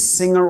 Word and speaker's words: Singer: And just to clarify once and for all, this is singer oil. And yes, it's pronounced like the English word singer, not with a Portuguese style pronunciation.